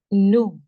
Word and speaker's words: nous: We, nous, nous. The sound of OU in French is oo. Like we say in cool, the deep oo sound where you round your lips and make a deep sound.